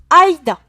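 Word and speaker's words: 間: milieu l'antre quelque chose quand il sera tout seul il se prononcera aida d'accord eide mais on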